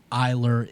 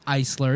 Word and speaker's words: Eisler: My last name Eisler has been pronounced Eiler, Isler, everything. It's Eisler. It's German.